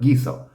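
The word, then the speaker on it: guiso: it's just you know maintaining the the sound of the G we need the U for some reason I'm sure there's some long explanation somebody could give you but gizo just remember um and you'll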